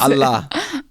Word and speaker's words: Ala'a: Allah. Allah. Allah. Yeah. All light L. Light L. Allah.